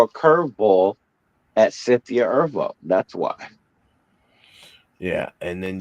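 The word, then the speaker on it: Erivo: e r i it's irvo yes vvo it's pronounced irvo is really weird the way that's pronounced but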